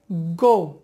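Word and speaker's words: go: ও দেব ও তাহলে দেখো গো না হয়ে সেটা হবে গৌ লেটস গৌ এরপরে আরেকটি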